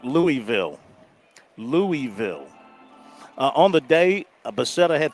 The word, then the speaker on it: Louisville: They said Louisville. Up there. I have a couple friends that live up there. Louisville. Well, they kind of swallow the words. That's right, Louisville. I like Louisville.